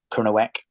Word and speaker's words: Kernow: language we have a different language in Cornwall KERO which is Cornish so it's a cross between or it's a combination of Gaya Celtic and kerno the word KERO and most people pronounce that wrong over there